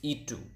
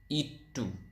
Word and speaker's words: itu: It is itu. Again, itu.